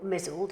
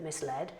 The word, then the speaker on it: misled: So for example, mizzled instead of misled. And in fact, as soon as I discovered it was misled, I thought, do you know what?